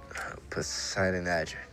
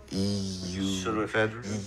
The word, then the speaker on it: pseudoephedrine: Poseidon Adger. What? I don't know, that's what it said on the side of the barrels. Spell it. P-S-E-U... Pseudoephedrine?